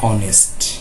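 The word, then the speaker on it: honest: এইচ এর উচ্চারণ হয়ের মতো হয়, কিন্তু এই এইচ এর উচ্চারণ কোনো কোনো শব্দের শুরুতে থাকলে সেই শব্দটি অ এর মতো উচ্চারণ দিয়ে শুরু হয়।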